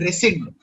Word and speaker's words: rescind: It's called rescind. Okay? Rescind. Okay. It's pronounced as rescind, and it means cancel or reject.